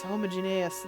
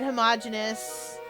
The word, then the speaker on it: homogeneous: exceptions to an otherwise homogeneous list of names. I should have said homogeneous. That other pronunciation is a word. It's the same word, but it's it's a different context usually. Puzzling, I think.